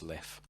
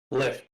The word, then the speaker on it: Lif: uh parchment and saying my name is liff l if i don't say that live can i ask you